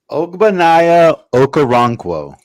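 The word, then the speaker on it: Ogbonnia Okoronkwo: We actually have a segment this show of the pronunciation game, but pronounce that for me. It's Ogbanaya Okoronkwo.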